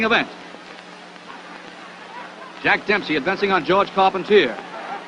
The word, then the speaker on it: Carpentier: jack dempsey advancing on george carpentier or carpontier if you prefer the french pronunciation this was the first